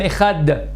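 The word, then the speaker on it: אחד: Dalet, lorsqu'on dit Shema Israël, Hashem, Elokeinu, Hashem Echad, faut prononcer le Dalet de Echad de 1.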